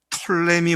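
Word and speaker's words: Ptolemy: 한 남방 왕조를 이끌어서 톨레미 왕조다 뭐 어떤 발음은 앞에 피가 목음으로 묵음이기 때문에 톨레미라지만 그렇게 말을 하는데요 남방은 톨레미 왕조고 북방은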